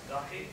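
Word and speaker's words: Dahiya: How would you pronounce it? Dahi.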